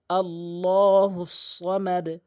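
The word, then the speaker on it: الله: আল্লাহুস সামাদ। আল্লাহ। আল্লাহ বলা যাবে না। আল্লাহ শব্দের ডান পাশে জবর রয়েছে অথবা পেশ থাকলে আল্লাহ বলতে হয়। লা বলতে হয় যখন জের থাকে।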